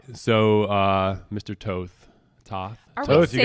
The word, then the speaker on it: Toth: Yeah, Toth. Just say it like Mike Tyson would say it. Toth.